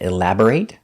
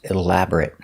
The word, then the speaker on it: elaborate: closer sometimes it's pronounced elaborate like a verb and sometimes it's pronounced elaborate for an adjective thank you for watching